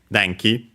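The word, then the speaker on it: 電気: Uh uh deni uh means electricity uh accent on the first moa. So yeah, deni on the uh literally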